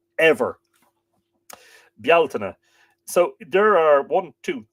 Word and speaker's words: Bealtaine: get into it in detail but it's not pronounced Beltane in Ireland not ever bialtana so there are one two three four five